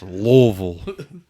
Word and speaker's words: Louisville: That's Louisville, Jay, you got to say it like a hill.